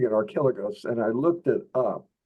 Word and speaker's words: Archilochus: And you'll discover that in multi-syllabic names, it's the third syllable in that carries the accent. So it's Archilochus introduced the folk song into literature.